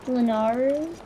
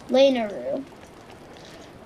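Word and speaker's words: Lanayru: armor so probably yeah let's head to lennar no no no it's not club lanaru that's what it's called i've been pronouncing it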